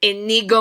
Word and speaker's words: Inigo: Ingo, wait, how do I say his name? Inigo Montoya. Inigo. Okay, so my knee goes somewhere when I bend it.